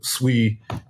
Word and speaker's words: Sui: come from yeah so it's pronounced sui as in you're saying sweet it actually means water